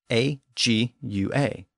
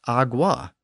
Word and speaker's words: agua: Think about the Spanish word for water, A-G-U-A. It isn't pronounced agua, and it isn't even really pronounced agua. The G is barely pronounced at all, and it comes out more like agua.